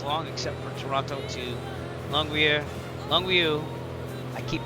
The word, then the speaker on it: Longueuil: Longueuil, so in English you can say Longueuil. Longueuil.